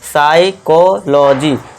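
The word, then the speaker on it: psychology: देखिए पी यहां साइलेंट हो जाएगा तो यहां हम एस से शुरू करेंगे। ठीक है, दोस्तों? पी को भूल जाइए। अब एस से शुरू करो। तो इसे क्या पढ़ेंगे? साइकोलॉजी।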